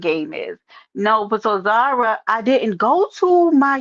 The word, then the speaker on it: Zara: Then that's how her name is pronounced because y'all keep saying Z Sarah, but it's not pronounced that. It's pronounced Zara.